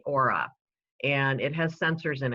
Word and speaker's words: Oura: So right here on my hand, I have a ring device, and it's spelled O-U-R-A, Aura.